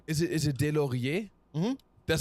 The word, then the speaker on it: Delaurier: Wait, is your last name, is it Delaurier?